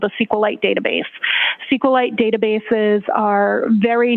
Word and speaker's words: SQLite: lowercase i t and sqlite uh is Al commonly pronounced as esite so both pronunciations are acceptable now once you receive